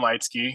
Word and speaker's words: Leitzke: of my stuff's all my name light ski so put it I'm sure you'll put in